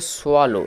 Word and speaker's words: swallow: আসে তার ইংরেজি হচ্ছে সোয়ালো এস ডব এল এল ও ডব সোয়ালো এটা লেখা আছে বাংলায় উচ্চারণটা দেখো কিরকমভাবে এটি সোলো উচ্চারণ আসছে এস এর জন্য হচ্ছে যন্তস আর ডবতে হচ্ছে ও এক্ষেত্রে একটা বিষয় ভালোভাবে